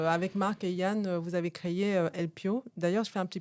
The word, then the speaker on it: Elpyoo: intro hein, Pierre avec Marc et Yann créé LP. D'ailleurs, je fais un petit focus. On dit LPO ou LP parce que alors LP donc E L P Y O O O O O se prononce LP.